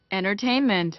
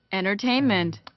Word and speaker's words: entertainment: entertainment, 해보세요. entertainment, entertainment라고 하시면 되고. entertainment, 자, 영국식 발음 T를 정확하게 합니다. 이런 현상들이 싹 다 유효하지 않아요. entertainment라고 발음 그대로 하시면 되고.